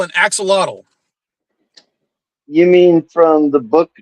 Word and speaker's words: axolotl: mad at us for pronouncing it axolotl. Because that's not how they Okay. pronounce it in Mexico, where the animal actually lives. They call it an ajolote. Yeah, It's I'm American. spelled exactly the same. It's just pronounced differently.